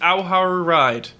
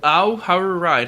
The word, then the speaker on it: Ao Haru Ride: We watched Ao Haru Ride. Oh, I'll say it again. Ao Haru Ride. Help me pronounce this, please, God.